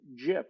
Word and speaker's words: GIF: You shouldn't speak ill of the dead, but he always said pronounce it GIF with a soft G. I'm sorry, I'm from the other school that says hard G GIF.